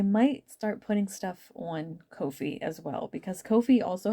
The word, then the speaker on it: Ko-fi: They have a it's not pronounced coffee as much as I want it to be coffee. It's Ko-fi, and it's not Ko-fi. It's Ko-fi. Like low-fi.